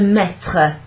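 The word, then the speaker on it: mis: let's go out to meta meta meta actually rhymes or the past participle rhymes with plea me me okay even though there's an S at the end you don't pronounce it so that was an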